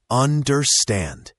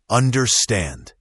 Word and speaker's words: understand: Understand has the stress on the last syllable. Understand. Make sure the nd at the end is clear. Understand.